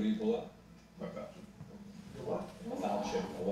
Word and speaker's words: falchion: I just like that everyone says falchion. It's pronounced falchion.